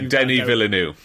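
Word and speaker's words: Denis Villeneuve: Um Dennis Vill I'm going to mispronounce his name. Please, it's Denny Villanu.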